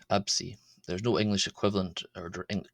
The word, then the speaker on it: ⲉⲯⲓ: So it's just another way to write the letter K in the old barric pronunciation system K. Then we have the letter absi. Absy.